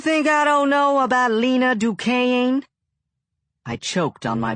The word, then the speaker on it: Lena: You think I don't know about Lena Duquesne? I choked on my biscuit. Lena Duquesne.